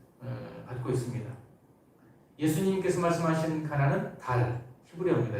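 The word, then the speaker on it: דל: 예수님께서 말씀하신 가난은 달, 히브리어입니다. 이게 뭐 하늘에 있는 달, 우리말이 아니고 히브리어로 달이라는 발음이 나는 단어고요.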